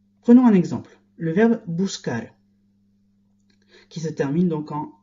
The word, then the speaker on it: buscar: Si la lettre ne change pas, si l'orthographe ne change pas, la prononciation des verbes va changer. Buscar ne se prononcera plus buscar, mais busser, par exemple. Il faut donc que je change le C en QU pour garder le même son.